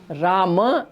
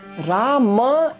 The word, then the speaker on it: Rama: word Rama as Ram, Rama as Ram, the halant ma. Rama actually is an a ending, akar ending, akaranta word. We by mistake make it a halant ending word.